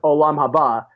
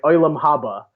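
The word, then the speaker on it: עולם הבא: heaven, let's say, like in Hebrew it's Olam Haba is the Hebrew word, but yeshivish people would pronounce it like Olam Haba. Huh. Like it's a completely different pronunciation.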